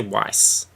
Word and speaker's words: Weiss: Say Weiss. Why not? Because it rhymes with nice. Weiss, and I'm sure she's a very nice lady.